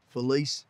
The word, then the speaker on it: Felise: as funny as when I actually say my name's Felice and they're like well who like you know Feliz Navidad yeah so yeah it's